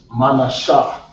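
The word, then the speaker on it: Menashe: Manasseh, which is Manashah.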